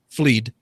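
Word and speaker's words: Fleadh: states of the galway film i guess i'm pronouncing that right f-l-e-a-d-h fleed uh which is ireland's leading film festival was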